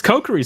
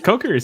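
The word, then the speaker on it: Kokiri: butter knife and ice let's go she gets cokery sword wait what what was that coke coke or what goku it's kokori soon yeah okay that's very cute that's such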